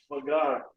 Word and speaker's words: Vaghareli: I'm not, you know, if you're busy making your, how do you pronounce it? Vaghareli. Vaghareli, yeah.